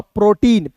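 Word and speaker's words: protein: इ आई है तो इसका उच्चारण ई के रूप में और एन का होता है दोस्तों नौ प्रोटीन पी आर ओ टी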